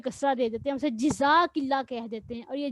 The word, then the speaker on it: جزاک اللہ: جزاک اللہ کہتے ہیں، تو یہ صحیح تلفظ ہے نا، جزاک اللہ ہی ہے۔ اور اگر ہم